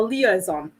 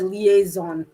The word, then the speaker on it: liaison: it in english because that's my my tendency of pronouncing it the french way uh a liaison right l i a